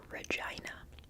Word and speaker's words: Regina: answer is I think someone told me it's pronounced Regina which feels weird to say but Regina Regina Regina